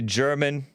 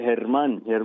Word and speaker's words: Herman: let me get to german or is it harmon in massachusetts german am i pronouncing your name right that's right herman herman well good mor well